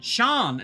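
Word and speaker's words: Sian: to save my name it isn't Shan Sayan C or Shan thanks Starbucks I so I thought I would clear it up my first name is cyan Shan there you go so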